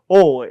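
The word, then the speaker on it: 大江: 발음할 때는 오에 이렇게 하셔야 됩니다. 거기 써 있다 오에 이렇게 하시면 안 됩니다.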